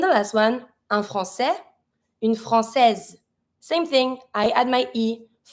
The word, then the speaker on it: Française: Une Française, Z sound. Why? Because now the S is between the I and the E, so I need to pronounce it. Un Français, une Française.